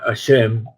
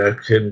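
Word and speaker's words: השם: produce un error porque la gente ve la palabra Hashem y entonces la pronuncian Hashem. No hay que pronunciar Hashem. La Hey es muda, es preferible no pronunciarla que pronunciarla muy fuerte y parezca una J.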